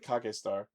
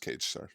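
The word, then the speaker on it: Kagestar: That looks like Kake Star. It's pronounced Cage Star.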